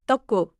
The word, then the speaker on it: 떡: Keep it short and firm. 떡. 좋아요. Final 기억 closes the syllable. Don't say an extra sound after it.